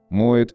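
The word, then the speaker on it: Moët: Вопреки распространенному в России мнению, в имени всемирно известной марки шампанских вин при произнесении убирается не «т» в слове «moet», а вторая «н» в слове «ченден». Союз «и», представленный в имени амперсандом, читается, как и положено по-французски, «э».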